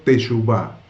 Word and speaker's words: teshuvá: Confesar los pecados a Dios es parte de un verdadero arrepentimiento bíblico, lo que llamamos en hebreo teshuvá. Teshuvá, con B corta, acento en la A.